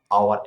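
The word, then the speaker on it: hour: Next, I মেট হিম, আমরা হাওয়ার বলবো না, আমরা কি বলবো আওয়ার এন, তাই এটার মধ্যে এইচটা সাইলেন্ট থাকবে, তাই আমরা এখানে এন বসিয়েছি।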